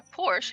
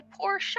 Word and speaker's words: Porsche: how you say it it's not a Porsche it's a Porsche show I'm I'm just wondering